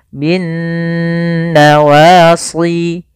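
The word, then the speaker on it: بالنواصي: atau mim berharakat tasydid cara membacanya yaitu suara nunnya kita tahan bin nawasi kesalahan yang sering terjadi tidak menahan gunahnya contoh binnawasi Wal aqdam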